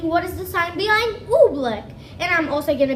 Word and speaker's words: Oobleck: Oobleck. Wait, how do you pronounce it?